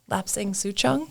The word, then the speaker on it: Lapsang Souchong: Lapsang Souchong.